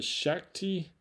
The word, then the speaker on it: Shakti: feels and it and this is the the Shakti is how you pronounce it shaky mat pressure acupressure pillow kind